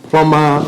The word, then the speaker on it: plumber: to teach them that, plumber rhymes with runner or something like that. It doesn't rhyme. You can't pronounce the B, for instance.